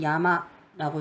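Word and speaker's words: 山: 자, 훈독은 그러니까 뜻에 해당되는 거는 일본은 야마라고 했습니다. 그리고 음독은 상이라고요. 산이랑 발음이 비슷하죠?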